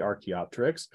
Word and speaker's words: Archaeopteryx: So archae is ancient, and the pterix with the silent P, you can think of like pterodactyl, has a silent P at the beginning, PT.